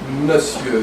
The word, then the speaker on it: monsieur: Monsieur is a combined word from Old French, but it's pronounced monsieur.